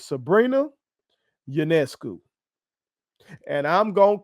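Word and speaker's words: Sabrina Ionescu: a I was saying Sabrina ayesu and thought I was doing a good job I'm pronouncing that that a how you pronounce it that girl's name is Sabrina janesu and I'm going to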